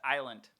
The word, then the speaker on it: island: the s is broken it's because the s is silent silent it's it's pronounced island oh yes island but